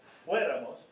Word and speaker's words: fuéramos: Fuera, fueras, fuera, fuéramos, accent on the E, fuerais and fuera.